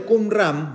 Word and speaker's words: Qumran: Después, con el descubrimiento de Qumran, búsquenlo, Qum se escribe así como lo escribe con Q-U-M, Ram, R-A-M, Qumran.